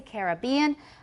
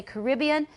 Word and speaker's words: Caribbean: example it says that British speakers tend to say Caribbean Americans say Caribbean but this is not